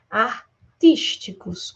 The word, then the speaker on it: artísticos: Artísticos também é proparoxítona, ó. Artísticos. Última, penúltima, antepenúltima.